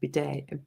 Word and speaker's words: bidet: Does the Liz and Loz Lou have a bidet?